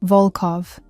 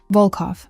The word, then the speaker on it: Volkov: Volkov. The O sounds deep and round. Volkov.